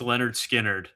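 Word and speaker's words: Lynyrd Skynyrd: My number two is pronounced Leonard Skinnerd.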